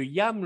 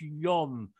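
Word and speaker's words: ים: Et les rabbins, enfin, du moins les juifs askénazes prononcent, au lieu de Yam, le prononcent Yom, le A un peu haut comme ça. Porque esa palabra Yam, que es agua, mar, también puede que varíe un poco como lo pronuncien y suene como Yom.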